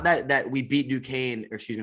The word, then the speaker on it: Duquesne: have florida state duquesne first of all don't know how it's spelled like that and then pronounce duquesne making it makes absolutely no sense to me but florida state won